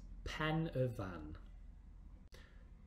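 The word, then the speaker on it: Pen y Fan: is it pronounced have a go yes we pronounce this pen a van and the truth is you can now even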